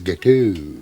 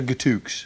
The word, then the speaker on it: gâteau: or anything, but I think you'll find it's gâteau. Gâteau? Yeah. Oh, I see, right. Yeah, the X is silent. I thought with your French-Canadian connection you would have known that. Gâteau. So it's gâteau as opposed to gatooks.